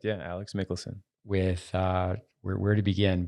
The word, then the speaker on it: Michelsen: have firsthand experience observing Alex mikkelson so I pronounce his name correct yeah Alex mikkelson with uh where to begin but let's let's